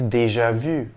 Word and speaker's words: déjà vu: sufficient to know that the french pronunciation of this phrase is deja vu many people report having